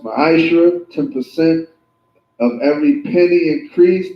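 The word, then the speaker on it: מעשר: Means 10th in Hebrew is pronounced ma'ashra, 10% of every penny increase the Lord gives you.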